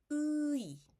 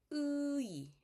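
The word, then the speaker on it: 의: Você pronuncia a vogal U e acrescenta o I. UI, UI, ok?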